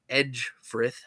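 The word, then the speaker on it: Ecgfrith: That, while it may look like Egfrith, is actually pronounced Edgefrith because for some reason Old English is spelled awful, and I hate it.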